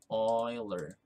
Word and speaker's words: Euler: called euler's number so this is pronounced as euler like this one oiler so we value the